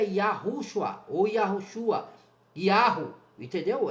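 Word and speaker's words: יהו: Esses textos sugerem que a pronúncia era Yahu, idêntica a encontrada nos nomes dos profetas e nas inscrições arqueológicas.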